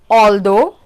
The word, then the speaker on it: although: The next pronunciation goes like o. Examples: although and doughnut.